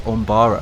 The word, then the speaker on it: Umbara: Some of you, but it's not how you say it, it's Umbara.